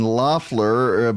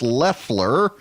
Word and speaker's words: Leffler: Senator designate Kelly luff Leffler I've been saying I'm gonna have to get out of this habit now I've been saying Lafleur but it is pronounced Leffler and she made her